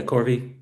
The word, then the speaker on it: Corvi: And Jerry the the star hop I was talking about is Epsilon How you say it Corvi? Yeah, Corvi.